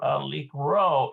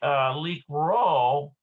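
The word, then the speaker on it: לקרוא: Okay, so note that the aleph in the verb likro is silent in the infinitive and singular conjugations, but it is pronounced in the plural conjugations.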